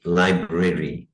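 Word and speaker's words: library: अच्छा, ये जो लफ्ज है इसका स्टैंडर्ड प्रोनाउंसिएशन तो लाइब्रेरी, लाइब्रेरी ऐसे है, लेकिन स्पोकन में इसमें एक ही आर पढ़ा जाता है, लाइब्रेरी, लाइब्रेरी। जब आप नेटिव्स को सुनेंगे तो वो लाइब्रेरी नहीं बोल रहे होते।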